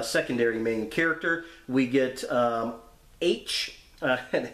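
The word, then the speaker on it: Aech: We get H, and it's kind of funny how H's name is spelled on there. It's A-E-C-H, like phonetically spelling the letter H, which is kind of funny.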